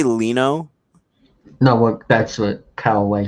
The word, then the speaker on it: Leno: fortune all right wait did you just say leno know what that's what cowaway said no i was listening to the way you pronounced it it's leno not lino oh that's fine but yeah uh celebrity weather